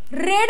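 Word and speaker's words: read: पण प्रोनान्सिएशन वेगळे प्रेझेंट मध्ये आपण बोलतो रीड आणि पास्ट मध्ये त्याला आपण म्हणतो रेड कळतय सो रेड आणि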